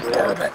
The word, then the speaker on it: bourbon: Just pretend there's no O in bourbon. Yeah, it's not a native English word, it's a fucking loan word from another language that doesn't pronounce it that way! Bourbon. We're on free beer and wild turkey.